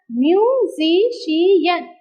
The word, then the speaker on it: musician: Again, we have musician. Musician. So, musician. So, count the syllables from the last.